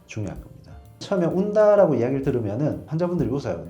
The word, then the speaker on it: ONDA: 처음에 온다라고 이야기를 들으면은 환자분들이 웃어요. 네? 온다요? 뭐가 와요? 라고 하시는데 실제로 이 장비는 국산 장비가 아니고요. 이탈리아 장비입니다. 이탈리아에서 ONDA라는 철자를 써서 우리나라에서 발음을 하면은 온다라고 돼버려요.